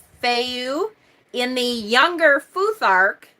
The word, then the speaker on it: Fehu: It is the F sound. Fehu.